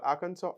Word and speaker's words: Arkansas: to make this joke it's spelled Aransas but we call aranso I don't know why